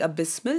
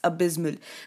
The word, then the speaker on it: abysmal: next one is abysmal notice the pronunciation here I'm not saying abysmal it's abysmal now abysmal basically can have